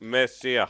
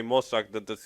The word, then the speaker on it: Messiah: No, it's Messiah. You say Mossack.